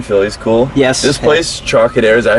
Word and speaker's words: Trocadero: This place, Trocadero, is that how you say it?